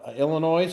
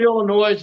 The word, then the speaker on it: Illinois: We called it Illinois until they finally said, "You got to drop the S. You're in junior high, you know, and I was like, we have all these other silent letters. Why do we have to add S to it?"